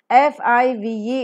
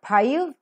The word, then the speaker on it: five: F-I-V-E, it is not five, it is five.